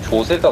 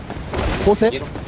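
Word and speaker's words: José: 저 조세가 무슨 단어야 도대체? 호세? 조세, 조세. 그 스페인어는 J가 H로 발음.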